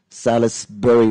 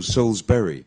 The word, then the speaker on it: Salisbury: when I was young I thought it was Salisbury Road and you would yeah and you would you read it Sal is Sully's buried yeah actually yeah even even I missed out this video it's just miss out the eye yeah so Souls yeah Berry and it's Berry actually